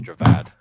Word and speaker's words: Javad: how you pronounce it i always said it was javidi when it was javad i'm idiot um so